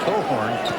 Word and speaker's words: Cochran: You're going to have to go tell his parents that, because they do pronounce it Cohorn, even though it looks like Cochran.